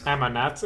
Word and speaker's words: Ammonat: Arnet Ammonat is how he pronounces it.